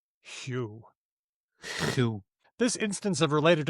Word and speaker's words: Hugh: I pronounced your name wrong on our last episode, but you shall henceforth be Hugh.